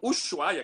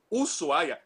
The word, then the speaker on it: Ushuaia: brasileiros erram falando Mendonça e falam Ushuaia, que na realidade é Ushuaia, o SH em espanhol não é que nem o SH em inglês, não é que nem Sheffield, ali da terra perto do Tim Vickery.